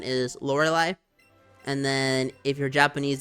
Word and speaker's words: Lorelei: because at this point I believe the accepted pronunciation is laureli and then if you're Japanese the pronunciation has